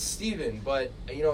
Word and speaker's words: Stephen: can people find your social media it's just Stephen could but it's Stephen with at pH and then people don't go Stefan and then it's a whole thing but it's Stephen no it's Stephen but you know it's honestly Steph Curry's fault